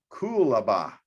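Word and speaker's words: coolabah: a burl cap of cool aba i think that's how you pronounce it c-o-o-l-a-b-a-h is how it is but this is what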